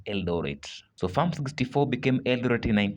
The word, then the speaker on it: Eldoret: When the settlers try to pronounce it, it was become difficult and therefore they pronounce it Eldorate.